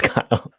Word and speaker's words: Guile: Finally got in a Guile. Nice. I think that's how you pronounce his name. How do you say this, DK? I say Guile. Okay. Or good. Yeah. No. It's Guile. It's Guile.